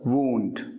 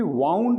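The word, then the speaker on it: wound: Blood is oozing from the वूंड। घाव को वूंड कहते हैं, और ध्यान रहे घाव को कभी भी वाउंड नहीं कहते हैं, ये गलत प्रोनाउंसिएशन कई लोग कर देते हैं, इसे कहते हैं वूंड।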